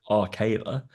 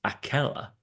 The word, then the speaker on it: Akela: and Nathan were like, I'm pretty sure it's Arkayla. It's like we both had our scout leader called Arkayla, but then we've asked Alexa and everything, and it's Akela. And we've all pronounced it wrong anyway.